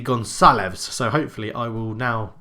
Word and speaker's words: Gonçalves: the screen now, that I'm saying Goncalves wrong. Because it's a C with a little thing on it, it's how you'd pronounce an S. So it'll be Gonçalves.